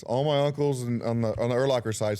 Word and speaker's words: Urlacher: I say Urlacher. My family, the Urlacher side, says Urlacher.